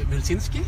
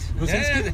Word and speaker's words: Wilczynski: My guest today is the Canadian ambassador to Norway, Wilczynski. Hi. Did I pronounce it correctly? Yeah, that's great. Wilczynski?